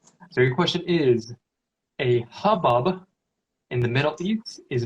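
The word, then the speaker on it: haboob: So hubbub is spelled H-A-B-O-O-B, but pronounced hubbub.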